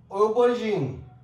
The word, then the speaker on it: aubergine: And here we have got O sound from the same combination of these two letters AU. That is tow, chauffeur, aubergine, aubard, and otter.